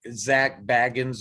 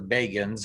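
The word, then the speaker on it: Zak Bagans: Now, I'm sure Zach Baggins or Bagans, however you will pronounce it, I've heard it both ways on the show itself, Ghost Adventures, will argue with us about that, but we'll leave that to them.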